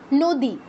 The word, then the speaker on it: নদী: কোনটা দন্তন্য কোনটা মধ্যন্য কিন্তু এটা যদি সংস্কৃত শব্দ হতো উচ্চারণটা হতো এরকম নাদি হারিণ হিরণ শুনেই বোঝা যাচ্ছে নিশ্চয়ই যে দুইটা আলাদা অক্ষর একটা হচ্ছে একটা হচ্ছে